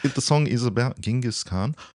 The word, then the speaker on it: Genghis: Genghis Khan, or as people mispronounce it and say Genghis.